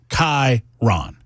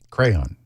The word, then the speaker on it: Chiron: Chi as in like your eyeball, but with a K in front of it. Chiron is what you see on your screen.